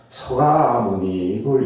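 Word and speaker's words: 석가모니불: 발음대로 하니까 원래는 석가모니인데 서가모니불 이렇게 나갑니다.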